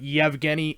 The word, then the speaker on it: Yevgeny: There's no Y at the beginning, but Yevgeny Malkin.